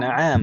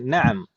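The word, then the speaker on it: نعم: Na'am pendek ya. Jangan bacanya jangan dipanjangkan. Jangan na'am, tapi na'am.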